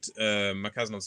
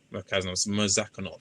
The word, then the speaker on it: Murzakanov: Merkazanov's gonna have to cross there to get his hits off on Rakic there. Murzakanov. Sorry, I always pronounce this wrong.